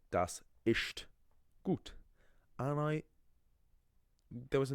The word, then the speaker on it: ist: I remember in first year of college, there was a guy who pronounced the German. So the German word for is ist, right? Ist, ist, and he thought, obviously, because there's so